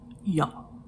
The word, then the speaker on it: y'all: And secondly, it is spelled Y apostrophe A-L-L, not Y-A apostrophe L-L. No, it's Y apostrophe representing O and U, A-L-L. Pronounced y'all.